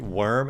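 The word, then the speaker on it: Wurm: called Whoop the Wicked Worm, and worm is spelled W-U-R-M, and I guess it makes him a little bit more wicked, but a pretty cool sprite animation for this.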